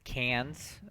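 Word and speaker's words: Cairns: additional forces at at cans so an Australian person has corrected my pronunciation this is cans because I guess Australians can't pronounce ours I'm bringing in more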